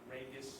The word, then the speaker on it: Regis: That's how you pronounce it, Regis.